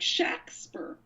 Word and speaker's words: Shakespeare: monument to Shakespeare actually the name was spelled like the Stratford man's name which was more pronounced like shacks per Sh ake a SPE ar e so